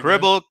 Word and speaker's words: Cribl: Try to cribble cribblecon.